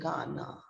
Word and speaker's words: Ghana: Ghana means the H has gone down, the pitch of H has gone down, and we are getting the sound of G-A-N-A, Ghana. That's the African country.